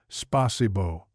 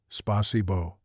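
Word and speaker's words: спасибо: Spasibbo, Frank attempted, his face serious with concentration. A slight smirk started to form, but he caught himself remembering Pearl's sharp look from Monday morning. Alexe gently corrected his pronunciation. Try again, Spasibo.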